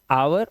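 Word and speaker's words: hour: ghost मतलब भूत ऐसे ही ऑनेस्ट में एच साइलेंट हमें ईमानदार आवर आवर मतलब क्या होता है घंटा इसी तरह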